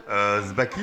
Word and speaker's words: Sbacchi: Zbaki. Sbaki, on a du mal à La prononcer, mais boucherie Jean ou la boucherie du Nouveau Monde. c'est quelle origine? Zbaki, donc c'est d'origine italienne, sicilienne.